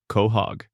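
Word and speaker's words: Quahog: Kohhog, Rhode Island, pronounced Kohhog.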